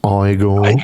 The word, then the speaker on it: Igor: actually, it's pronounced Igor.